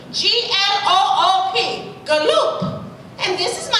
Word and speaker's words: Gloop: Poop, may we have a word? Their name is pronounced Gloop, with a G and an L and an O and another O and a P. G-L-O-O-P.